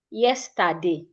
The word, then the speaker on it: yesterday: As a Nigerian, I would say something like yesterday. My voice is like yesterday. Same energy. But the right way to say it, yesterday. Yesterday. Yesterday. Yesterday. When you get to TER, your energy comes down a bit.